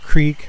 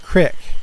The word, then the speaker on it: Creek: encounter with the Salt Creek monster if you live in Central Illinois that's pronounced Crick not Creek at that time we lived